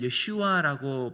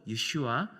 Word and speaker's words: 예슈아: 히브리어 원어로 이 발음을 할 때에는 예슈아라고 발음을 하는데요. 바로 우리 주님 예수님의 히브리어 이름이 바로 예슈아, 여호수아입니다.